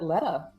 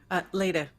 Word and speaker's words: Leda: And certainly not least, let's take a gander at Letta. I'm pronouncing that correctly? Right? Leda.